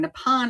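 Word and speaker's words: Nippon: it was actually writing nepon instead which is the Japanese pronunciation of Japan so the ni o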